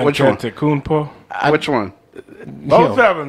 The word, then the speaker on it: Antetokounmpo: Antetokounmpo? Which one? Both of them. That's their name. Antetokounmpo.